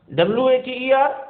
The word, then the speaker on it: water: Same is the case with daughter. See, WATER, water. This T will be pronounced as the water.